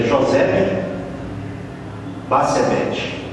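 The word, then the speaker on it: Josebe-Bassebete: Mas é José Basebete. De acordo com a pronúncia mais adequada, né?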